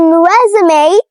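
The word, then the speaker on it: résumé: But in resumeé this is not silent. This is pronounced as long a as in day and may resume.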